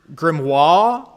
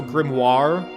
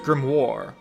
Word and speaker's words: grimoire: great grimoire the great grim war maybe war i don't know war grimoire like film noir grimoire film noir grape grimoire the great